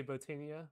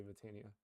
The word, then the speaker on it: Botania: is whatever you want i say botania with the o sound but if you want to pronounce the light bot in me like botania i i don't know that's more awkward so i i think most people say vitania but whatever you want